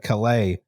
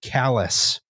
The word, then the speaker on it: Calais: Stephen to Calais. Although I believe they actually pronounce it callous.